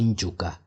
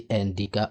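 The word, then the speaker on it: Ndyuka: They cannot say Njuka. You see, I'm saying Njuka, they will say Ndika or Juka.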